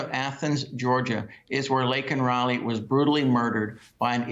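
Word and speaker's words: Laken Riley: last night when he couldn't even properly pronounced her name and called her Lincoln Riley uh it was a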